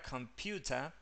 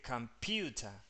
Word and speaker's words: computer: Hay una regla fonética, esto lo explico así rápido, que la schwa nunca puede tener como las. No, nunca puede ser la tilde o la sílaba tónica de una palabra. Vos no puedes decir computer porque tiene una schwa. La schwa nunca tiene tilde, digamos, para que se entienda. Nunca tiene stress, se dice en inglés.